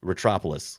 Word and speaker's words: Ratropolis: Don't try not to put the rat too hard in there. It's just Ratropolis. Ratropolis, like Metropolis, but just saying it wrong.